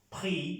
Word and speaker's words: prix: Vemos que no se pronuncia esta X.